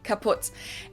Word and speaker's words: kaput: We spell it with 2 T's in Germany, but we pronounce it the same way, kaput.